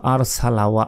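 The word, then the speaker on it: أَرْسَلَ: আলাইহিম এখানে কি বলি আর সালা আর নয় আর ঠোঁটটা গোল হয়ে আসবে ওয়া আর সালা ওয়া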